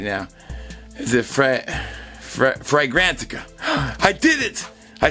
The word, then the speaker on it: Fragrantica: Is it Fragrantica? I did it! I said it right, guys. Fragrantica.